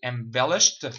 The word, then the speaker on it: embellished: I embellished my salary by a few thousands. The ed here are pronounced as a t sound.